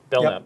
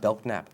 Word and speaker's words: Belknap: Is that how you pronounce it? Belknap, yeah. It's not Belknap.